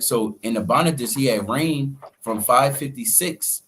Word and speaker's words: Nabonidus: That's how you pronounce it. Nabonidus. Right? So in Nabonidus, he had reigned from 556 BC to around 539 BC, right?